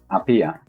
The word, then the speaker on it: Apía: ¿Cómo se pronuncia? Apía, Apía.